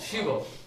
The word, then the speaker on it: Shiva: There's Shi plus Ba, Shiva.